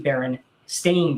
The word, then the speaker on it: Berenstain: The reality is it's actually Berenstain Bears, Stain.